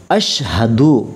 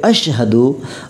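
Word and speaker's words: أشهد: আশহাদু, অনেকজন বলে আশহাদু, কিন্তু উচ্চারণ হবে আশহাদু আল্লা ইলাহা ইল্লাল্লাহু ওয়া আশহাদু আন্না মুহাম্মাদান আবদুহু মুহাম্মাদুর রাসূলুল্লাহ।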